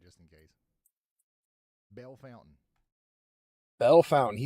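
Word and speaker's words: Bellefontaine: Bell Fountain.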